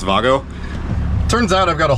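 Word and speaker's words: WAGO: problem I was not able to use those weo connectors actually it's pronounced Vago turns out I've got a whole bunch of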